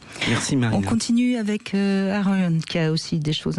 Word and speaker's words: Aaron: Et donc nous avons Aaron, c'est comme ça qu'on prononce votre prénom ? Aaron, exactement.